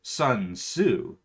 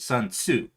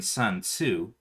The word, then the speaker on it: Sun Tzu: you don't pronounce it sun tzu you pronounce it sun tzu not zoo not su tsu you actually do pronounce the t in sun tzu and in tsunami okay so ship flew